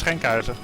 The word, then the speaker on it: Schenkhuizen: So it's not pronounced Schwangen. Give us the real pronunciation. Oh, it was pretty close, but the way to pronounce it is Schenkhuizen.